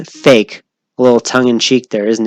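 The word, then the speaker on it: PHEIC: a feat or pronounced fake isn't that interesting public health emergency of international concern is pronounced fake a little tongue-in-cheek there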